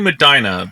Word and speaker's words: Medina: Medina, yeah, there's a drawl Yeah. to it, you know. It's like Oh. Des Moines versus Des Moines or whatever. Yeah. But it's definitely Medina.